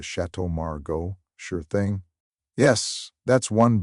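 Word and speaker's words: Château Margaux: We I'll have the chateau margu. Ah, yes. Let's get the burata. The waiter, to his credit, would simply blink, correct her with the most Americanized pronunciation possible, and move on. Oh, the Chateau Margo.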